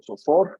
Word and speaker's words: SOFR: pues viene esta tasa, esa SOFR, o SOFOR, en algunos lo pronuncian así.